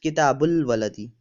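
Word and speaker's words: كتاب الولد: So book of boy, Kitabu al Waladi, or we pronounce it as Kitabul Waladi.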